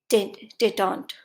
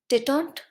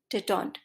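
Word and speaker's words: détente: Next word है टेटॉन्ट। टेटॉन्ट, इसे सही प्रोनाउंस कीजिएगा, टेंटे नहीं, टेटॉन्ट। यूज होता है नाउन की तरह और मीनिंग होता है दो देशों के संबंध सुधारना।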